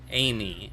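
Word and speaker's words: Ameigh: See, some of the worst names someone named their kid Amy, but it's spelled A M E I G H.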